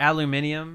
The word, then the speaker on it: aluminium: and what with that aluminium aluminium why had an extra syllable I was listening to